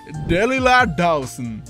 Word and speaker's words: Delilah Dawson: détails, laissez-moi vous présenter Delilah Dawson. Et oui, il faut le prononcer à l'américaine.